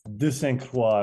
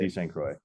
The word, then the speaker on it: De St. Croix: Today we are joined by De Saint Croix. Did I pronounce that right? Uh it's De Saint Croix if we're going to be French but it's I'm I'm from West Coast.